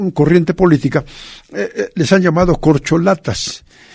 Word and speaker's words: corcholata: en la política eh corcholata es una palabra llana de cuatro sílabas es un sustantivo eh